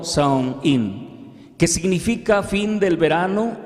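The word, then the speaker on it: Samhain: el antiguo festival celta conocido como sangin pronunciado como sound in qué significa fin del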